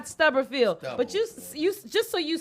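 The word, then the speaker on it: Stubblefield: remember his name was Clyde Stubberfield or Clyde Stuggerfield or Stubberfield. You said it right the first time. Clyde Stubberfield.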